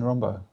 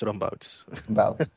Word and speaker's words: Rombouts: occasion, we have Rombo. Is it Rombo? I always get it wrong, right? Wrong, right? Well, if we pronounce it correctly, it's Rombouts. Rombouts.